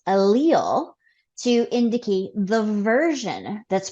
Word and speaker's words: allele: present on the gene allele so go ahead say that word because that's sort of a tough one if you're just looking at it how to pronounce it allele allele right like Muhammad alil okay that can help